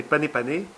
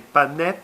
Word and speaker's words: panais: On va faire des panés panés, des panais panés. Hein, c'est comme ça qu'on prononce, il faut dire et.